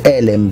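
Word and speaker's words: עלם: Elem, ah no scusate, Elem, perché è doppio segol, quindi accento sulla prima, sulla prima E.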